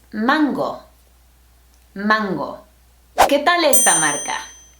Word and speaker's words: Mango: This fashion design and manufacturing company was founded in Barcelona, Spain, or should I say Barcelona, and the correct pronunciation is not mango or mongo, it's mango.